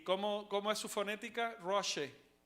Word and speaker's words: Rosh: Roche. La palabra, esa palabra se dice Roche.